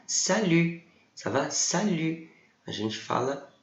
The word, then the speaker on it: salut: E o T final a gente não vai pronunciar.